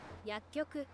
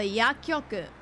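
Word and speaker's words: 薬局: Okay, so when there's a small ts, you don't actually pronounce the ts. Don't worry about it.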